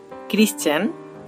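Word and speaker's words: Christian: দেখুন আমাদের স্ক্রিনে 3টা উদাহরণ চলে এসেছে, চেইন, ক্রিশ্চিয়ান, মেশিন। তো দেখুন এখানে আমরা CH পাচ্ছি কিন্তু এখানে তার উচ্চারণটা হচ্ছে চ এর মতো। এখানেও দেখুন আমরা CH পাচ্ছি কিন্তু এখানে তার উচ্চারণটা হচ্ছে ক এর মতো।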